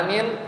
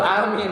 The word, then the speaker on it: amin: Cara bacanya dibaca dengan a-nya panjang, a panjang. Kemudian amin itu tadi ya. Atau boleh juga di lafaz yang lain a-nya pendek, amin. Itu juga boleh. Jadi ada 2.